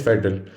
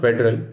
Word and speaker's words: federal: the next word is federal it is not federal it is not federal it is federal what is the meaning